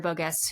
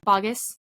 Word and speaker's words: Boggess: But I did see it with Sierra Bogus, who is, I think that's how you pronounce her name. Correct me if I'm wrong. Bogus. Thank you, Danny. She's not bogus. She's bogus.